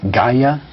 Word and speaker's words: Gaia: Gaia? Yes, Gaia. How do you spell that?